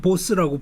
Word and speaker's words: Bose: 그래서 그냥 보스라고 부르시면 됩니다. 보스가 그 두목의 그 보스예요?